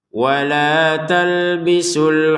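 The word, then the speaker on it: وَلَا تَلْبِسُوا: Nah, kita bacanya di sini wala talbisu ya. Kini panjangnya 2 harokat. Nah, panjang 2 harokat ini kalau kita berhenti di sini saja wala talbisu, la-nya 2 harokat, su-nya juga 2 harokat.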